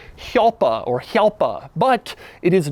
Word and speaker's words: Jalpa: heard one described, but the technical correct way to say it is Jalpa or Jalpa, like the name Juan.